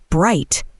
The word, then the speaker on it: bright: Pronunciation tip: bright rhymes with light.